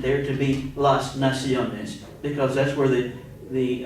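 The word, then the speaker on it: nación: it's singular la nacion and that's because words that end in anything but an l r or D normally have an accent on the next of the last syllable so if it doesn't end an L an r or a d and uh the accent falls on that last syllable you have to put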